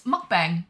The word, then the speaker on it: mukbang: It's mukbang, but pronounced bomb.